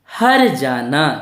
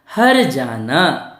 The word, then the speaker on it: हर्जाना: हमारी फिर वही मात्रा तो हमें इस मात्रा का उच्चारण कि से पहले करना है जहां से पहले करना है क्या हो जाएगा का यह जुड़ा ना हो जाएगा हर्जाना हरियाणा मतलब क्या होता